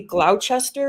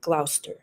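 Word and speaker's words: Gloucester: they or you see you see Glouchester it's really Glouster uh okay okay Place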